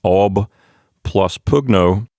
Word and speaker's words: oppugno: fight against or attack it's ob pugno but the b in the word ob due to the way people pronounce words it's a long story but this is a linguistics thing the b gets uh sort of absorbed into the p sound this is a linguistic thing called assimilation so the b in